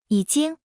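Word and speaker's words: 已经: 已经已 Se pronuncia con el tercer tono.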